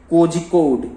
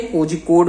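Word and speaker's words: Kozhikode: अपनी दादी के घर जा रहे हैं, इन, ठीक है, कोझिकोड, ठीक है। कोझिकोड में रहती है उनकी दादी।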